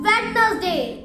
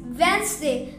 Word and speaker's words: Wednesday: this word it's often wedness day no no this is also wrong it's Wednesday the D is silent in this word wday wday sandwich no